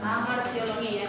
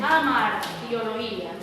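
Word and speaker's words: hamartiología: dar cuenta que dice amartiología. Ya, muchas personas lo pronuncian como hamar, y está correcto, ¿sí? Amartiología, muchas veces esas H suenan como una J.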